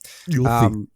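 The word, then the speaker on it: Ylfa: Don't know how to pronounce it. It's Ylfi.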